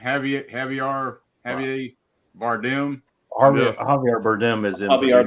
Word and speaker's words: Javier Bardem: Javier Bardem.